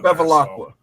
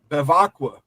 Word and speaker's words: Bevacqua: Where's the L come from? Because it's Notre Dame? Now you got to say his name wrong. Oh, you're right. Bevacqua.